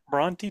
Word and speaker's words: Bronte: Bronte, Texas.